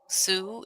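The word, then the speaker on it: Sault: nine in I guess this city is pronounced so Sue it's s oo smoking while in bed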